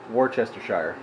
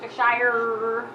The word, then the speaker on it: Worcestershire: And I think Worcestershire. I feel like it needs some like garlic too. Worcestershire is how it's pronounced. Worcestershire.